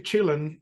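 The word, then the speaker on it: Chillin': a song called Boogie Chillin which is Boogie children but because uh apparently J hook pronounced that word when he was young he used to say chilling something like chill CH instead of children so the song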